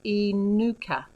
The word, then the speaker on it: Inuka: My name is pronounced sort of Inuka.